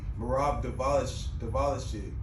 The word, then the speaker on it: Merab Dvalishvili: He's the last guy actually to beat the number 2 or 3 bantamweight, I believe, Merab Dvalishvili.